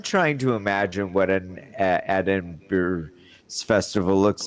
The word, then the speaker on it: Edinburgh: So you were at the You were all in Edinburgh at the festival? Edinburgh. We were all Edinburgh? Edinburgh. Oh, it's Edenburgy.